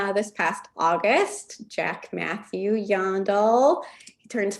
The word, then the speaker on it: Jandl: The J is like a Y and the A is like an O, but really the best way to remember how to say it is yawn. You're yawning like this dog, Jandl.